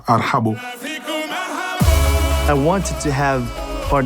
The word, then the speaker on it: ارحبو: Ils n'arrivent pas à prononcer, ils disent arbo, arbo. Arbo parce que c'est difficile pour un Français de dire arhabo.